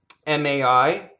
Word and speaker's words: mai: MAI, again, is ma-e, ah-e. It doesn't rhyme with, well, it's not like my, like that's my car, M-Y. Mai, fu.